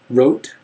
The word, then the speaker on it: wrote: Hotel Joe note wrote wrote with a W silent tote vote OD bod